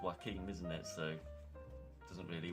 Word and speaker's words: Joaquin: Well, that that doesn't I mean, you it's pronounced Joaquin, isn't it?